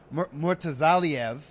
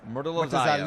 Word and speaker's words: Murtazaliev: These are guys like Murtazaliev. I know I didn't pronounce that correctly. Bakram. Yeah. No, but I think it's Murtazaliev. Yes. Yeah, that's how you say it. Yeah, the Lee.